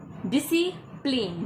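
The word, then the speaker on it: discipline: डिसिप्लिन। डिसिप्लिन में सी silent है।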